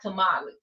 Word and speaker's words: tamale: And there's a on the sign on the window there's a sign that says hot it's like hot tamales but the way it's pronounced in the del delta is tamal.